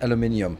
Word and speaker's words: aluminium: The second one was, why do you mispronounce aluminium? I don't. I'm one of the few people who live outside of the United States, and that's how it's pronounced around here.